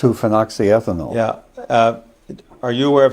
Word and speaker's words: 2-phenoxyethanol: How do you pronounce it? 2-phenoxyethanol.